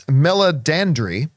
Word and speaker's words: Meledandri: Well, the head of Illumination, who was at CinemaCon, by the way, came out on stage, and I always mispronounce his name, but it's Meledandri is his last name.